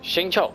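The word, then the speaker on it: Xingqiu: up Shing Cho's Quest shincho gotta remember that that is how they pronounce it in this game and I think my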